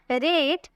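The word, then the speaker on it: read: रीड, यानी कि पढ़ना, बट इसके सेकंड फॉर्म देखने में सेम लगता है, लेकिन इसकी प्रोनाउंसिएशन अलग तरीके से की जाती है। हम बोलेंगे रीड, रेट, रीडिंग, रीड्स।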